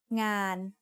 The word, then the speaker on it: งาน: Ngองูสระอานอหนู makes งาน งาน means work. The sound of นอหนู makes it a live syllable, so it is mid-tone.